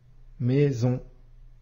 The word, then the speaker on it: maison: le Son ze s maison ici S se trouve entre I et o qui sont bien de voyelles et on entend bien le son ze maison classe ici on a